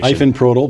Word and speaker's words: Ifenprodil: And I'm sure I screwed up that pronunciation. Ifenprodil, but you were close.